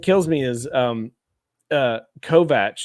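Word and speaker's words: Kovacs: anyway what what kills me is um uh kovat t tekashi kovat that's how you're supposed to pronounce his name but whenever I hear it pronounced Kovac it's like takes me completely out because it's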